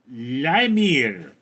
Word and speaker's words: Lemire: Lemire, it's pronounced Limir.